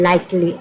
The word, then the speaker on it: likely: Next है LIKELY, इसको पढ़ते हैं लाइकली। L से हुआ ल, लाई, क से हुआ क, ए साइलेंट है लाइक, और फिर ल से हुआ ला, तो क्या हुआ, लाइकली।